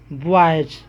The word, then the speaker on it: boys: जैसे BOYS, यहाँ पर देखिए वाई के बाद एस आ गया है, तो वाई के बाद जब एस आ गया है तो यहाँ पर इसका उच्चारण क्या होगा, ज होगा। यानी क्या पढ़ेंगे इसको उच्चारण में, बॉयज।